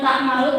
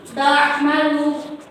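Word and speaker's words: تعمل: Jadi jangan tak malu tapi ta'malu.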